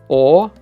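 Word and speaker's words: Огайо: So why did we spell it with a G in Russian if we do have the H sound, right? We could have just spelled it as Ohio.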